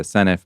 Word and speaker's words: Senedd: I used to say the Senedd, now I say the Senedd, but I haven't managed to properly internalise that the D is pronounced for in Welsh.